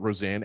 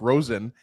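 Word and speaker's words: Rosén: because I was asking to ask you about Roseanne. And thank you, by the way, Danielle, for putting out the pronunciation because I think since he was drafted, we're just calling him Isaac Rosen.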